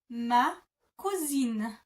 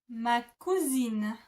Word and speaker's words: ma cousine: So if you want to say this is my female cousin, you would say ma cousine. Ma cousine. Ma cousine.